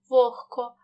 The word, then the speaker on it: вогко: у парний глухий наприклад у слові вогко дзвінки г перед глухим к вимовляємо як х вогко в слові легко знову